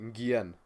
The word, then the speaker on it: Nguyen: Nguyen.